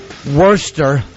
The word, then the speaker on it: Worcester: Greg Ganneer, Bangladesh, Worcester, as in like worst.